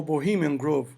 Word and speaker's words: Bohemian Grove: The Bohemian Grove, ou Bohemian Grove, em inglês, né, a pronúncia.